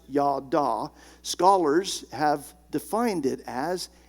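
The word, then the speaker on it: ידע: knowledge that Hebrew word for to know is pronounced yada Scholars have defined it as a mingling together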